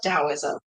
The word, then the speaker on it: Taoism: Taoism is pronounced with a D, though. It's like Tao.